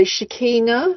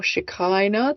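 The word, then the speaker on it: Shekinah: wrote another one um so shikina or shakina depending on how you want to pronounce it you say shikina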